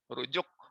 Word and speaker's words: rujuk: Cuman tidak dibaca ain, dibacanya ka. Jadi rujuk, betul ya. Itu harusnya ain, ruju'.